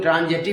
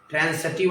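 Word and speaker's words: transitive: आगे जो ट्रांसिटिव इंट्रांसिटिव जो बताएंगे, वैसे जनरली लोग ट्रांजिटिव इंट्रांजिटिव पढ़ता है, प्रोनाउंसिएशन शुद्ध नहीं है। ट्रांसिटिव और इंट्रांसिटिव होता है।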